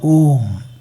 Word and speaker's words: Om: It is made out of 3 independent syllables, A, U, and M. When you open the mouth and produce a sound, it becomes A. When you close the lips and produce the sound, it becomes M.